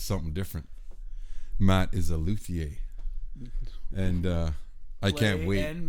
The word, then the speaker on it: luthier: And if you want to go back to the being French, it's pronounced luthier.